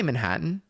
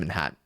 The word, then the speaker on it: Manhattan: Don't pronounce the T's, I don't think.